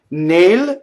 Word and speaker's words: nel: Nail, N-E-L, is closed E.